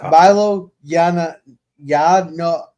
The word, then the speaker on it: Milo Yiannopoulos: And Boomer is correcting my pronunciation here. It's Milo Yiannopoulos.